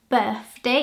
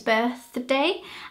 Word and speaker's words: birthday: immediately me sound foreign for the th sound my main tip is that it doesn't sound like an F so so it's not birthday it's birthday and the way that you distinguish that by saying is that the th sound your tongue goes in between your teeth and your mouth is